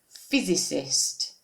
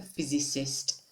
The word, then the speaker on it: physicist: can have is whose okay careful of the pronunciation here of this word physicist okay a physicist then continuing science is the subject because science